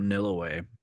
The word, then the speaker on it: Nilaway: Anyway, yeah, we run that one, and Uber has another one called Nilaway, which I like to run, and How do you spell that? NILAWA, like Nil. nil way, but one word.